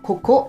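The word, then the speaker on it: ここ: 처음 부분 에서 는 "k" 발음 을 꼭 명확하게 할 필요 는 없습니다 . 그러니까 뒷부분 에 조금 더 강세 를 주면 " 코코 " 라고 발음 할 수 있어 요 .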